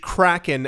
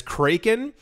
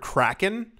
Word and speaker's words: Kraken: actual SE several people pronounce the crypto exchange Kraken as cren and I I if